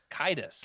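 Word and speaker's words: Caedus: solo to take down Jason Darth is it cadis sadus how do you say it kidus kidus okay so I have not read Legacy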